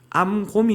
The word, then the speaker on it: 암곰: 아이들 중에 42명을 찢었더니 발음할 때마다 자꾸 콤이라는 발음으로 되더라고요 암곰 이죠 엘리사의이 저주는 단순히 화를 못